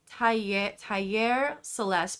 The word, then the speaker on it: Taller Celeste: Okay, so I believe it's pronounced Taller Celeste, but if you're typing it in English, it's like Taller Celeste. And in Spanish, what it means is Celestial Workshop.